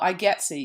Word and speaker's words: IGETC: we're going to talk about right now so I getsy you can see that's how it's pronounced it's an acronym and it stands for